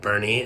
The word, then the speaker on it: Boerne: Tony's home was in a city called Bernie, and as you can see, I pronounced it wrong.